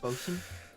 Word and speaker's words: bosun: And I thought, Bosun? I thought you were a boatswain. bosun. Hmm. It's pronounced bosun. Are you an idiot?